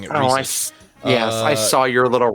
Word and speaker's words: Reese's: Valentine's Day comic book couples if you had pronounced it Reese's I would not have given you any candy for the rest of your life so thank you for pronouncing it Reese yes I saw your little rant about Reese's